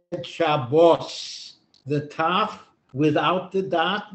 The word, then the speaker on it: Shabbos: have learned to read Hebrew in the ashkenazic pronunciation where this was always off you said Shabbos the tough without the dot was s you